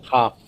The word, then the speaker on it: half: Half. Okay. L, the L always silent.